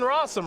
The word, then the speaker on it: Rosum: So Jonathan Rosum, rhymes with possum, rhymes with awesome, rhymes with all sorts of things, is doing just fine here this weekend.